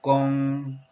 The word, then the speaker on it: 工: Chinese pronunciation is gong, gong, having tone number 1 value.